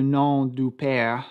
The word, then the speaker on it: nom du père: his concept of le nom du père. This translates to the name of the father, but since the M is silent, it also sounds like the no of the father.